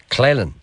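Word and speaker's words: Coalisland: Claylan.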